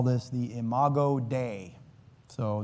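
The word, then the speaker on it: imago Dei: I call this the imo day. So, that is spelled as two words. I m a g- o is the first word. D EI is the second word and it's a Latin term which means image of God.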